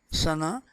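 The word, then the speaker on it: ثناء: praises god which is sana i wrote this spelling sanaa because we pronounce it in uh in in this way in urdu sana however generally it is uh spelling is essay sorry t-h-a-n-a i did not write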